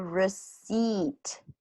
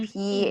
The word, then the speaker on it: receipt: So hands Jacob a receipt. Here the P Receipt. is a silent P. So receipt. So usually we don't pronounce the P.